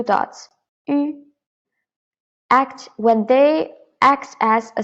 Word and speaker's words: 鱼: So actually, this one 鱼 is u with 2 dots, 鱼, and then add the tone, the second tone, rising tone, 鱼.